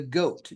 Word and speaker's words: GOAT: In fact, they call him in English the GOAT, G-O-A-T, which stands for the greatest of all time.